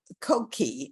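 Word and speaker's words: Coqui: is audio and uh code key is how they pronounce it has again it's it's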